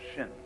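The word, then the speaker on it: 心: Chinese mind is um this word pronounced shin and shin is here Shin is the heart mind it's the psychic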